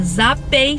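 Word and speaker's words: ZAPAY: Então lembra, o nome é ZAPEI, se escreve Z-A-P-A-Y, e aqui na descrição do vídeo vai ficar um link para você acessar bem rapidinho.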